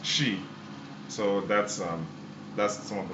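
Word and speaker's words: Twi: In Ghana, the first language in Ghana is actually the spelling is Tchwi, and it's the Ghanaian people pronounce it as Chi.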